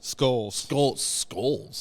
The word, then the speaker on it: Scholes: Scholes? Scholes. Hard C.